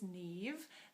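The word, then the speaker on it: Niamh: little bit of background my name is Nev that's pronounced like Eve with an N at the front even though it's spelled all funny I grew up in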